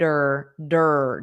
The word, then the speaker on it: her: And this her native speakers often drop the h and it just sounds like but you have to attach it to the last sound. Feed her dur.